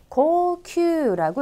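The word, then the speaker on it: 高級: 그래서 우리가 흔히 알고 있는 고급이라는 자는 고큐라고 읽으셔야 되고 고급할 때 고자에는 우장음 들어갑니다. 고큐가 되겠고요.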